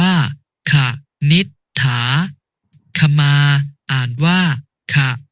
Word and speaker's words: ขนิษฐา: หีบ นำ เช่น คำ ว่า ขนิษฐา อ่าน ว่า ขาด นิษฐา ทำ มา อ่าน ว่า